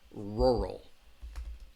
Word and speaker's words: rural: it's a difficult word rural rural rural because you have that R and that L so it has two syllables row row and that second syllable has that schwa sound rural rural all right the rural